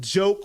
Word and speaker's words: JOK: J, the E is silent. There is no E, but you get what I'm saying.